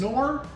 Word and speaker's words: Knorr: Knorr? Yeah, I think it's Knorr. It's Knorr.